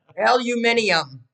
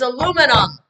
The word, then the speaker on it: aluminum: All the British people that watch us are going to be like, we don't say that. Aluminium. I'm just gonna say that and leave that there. Aluminium. It's aluminum.